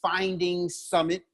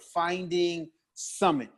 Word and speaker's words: Finding Summit: And on Instagram, it's Finding Summit, just like it's spelled, just like it sound, all one word, Finding Summit.